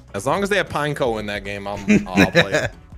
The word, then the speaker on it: Pineco: Nah, it's not Pine... Because P-I-N-E... It's Pineco. It's not like it's P-I-N-E-N-E-C-O. Pine. Neko.